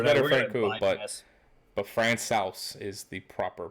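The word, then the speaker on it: Francouz: backup I always refer to them as Pablo Frank ooh I got the correct pronunciation on that finally Oh what is it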